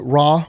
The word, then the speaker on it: Ra: Rey or I've heard other people pronounce it ra was the sun god.